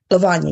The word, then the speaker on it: Lavanya: okay how you doing how do you say your name is so nice lavanya yes I know that name